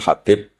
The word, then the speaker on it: Habib: Ada yang nulis Abi Abdurrahman Habib Asulami. Itu di harakatnya kitab itu ada yang nulis Khubaib. Tapi yang benar Oh, nggih. Yang benar itu bacanya habib.